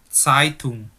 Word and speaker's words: Zeitung: Bukan Zeitung tapi Zeitung. Jadi gini aja. Kamu coba taruh telapak tanganmu di depan bibirmu. Ketika kamu bilang Zeitung itu keluar angin atau enggak? Kalau kamu bacanya kayak C, Zeitung enggak keluar angin. Tapi kalau kamu bacanya Zeitung itu keluar angin seperti itu.